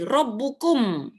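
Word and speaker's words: ربكم: ada eh tanwin rbu ini ku ada mimnya mati rbukum rbukum Tuhan kamu semua kalau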